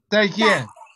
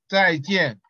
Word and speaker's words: 再见: Zaijian. Yeah. Yep. Zaijian.